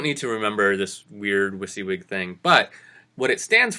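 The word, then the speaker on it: WYSIWYG: I wyg now you don't need and it's pronounced wiy wig it's totally weird acronym NOW you don't need to remember this weird wiy wig thing but what it stands for is what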